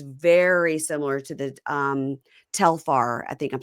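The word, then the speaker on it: Telfar: I'm going to make sure I'm saying it right. It's um Telar.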